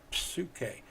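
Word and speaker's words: ψυχή: to that is a suit k you can hear the p at the beginning now last but not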